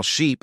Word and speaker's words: sheep: Ship has a short I sound, while sheep has a long E sound.